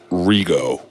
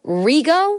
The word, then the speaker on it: Regot: elephant would be that I've been pronouncing my name wrong all these years okay so explain okay so my given name is Rigo you mean to tell me my name is Jill Rigo yeah and I am